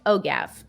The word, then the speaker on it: OGAF: heck is ogla ogaf o-g-a-f and we pronounce it oh gav well i pronounce it oh gap i don't know about anyone else oh original gangsta as